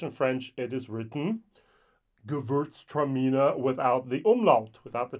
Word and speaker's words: Gewürztraminer: Now I think, so it's Gewürztraminer is the way we call this type of wine over here in Europe, or German. Yeah, my German pronunciation was not great. Gewürztraminer is the way we say that, actually in German as well. I'm sorry, in English as well.